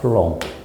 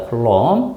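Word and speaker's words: Coulomb: 쿨롱. 쿨롱/퍼세컨드 알겠죠? 쿨롬이라고 읽으면 돼요. 쿨롬 단위는 영어식이고 이름은 그 나라 이름으로 하기 때문에 사람 이름이 쿨롱이고 미국식으로 그걸 발음하면 쿨롬입니다. 쿨롬 그래서 클롬퍼 세크 이걸 줄여서 얘기해 놓은 거야.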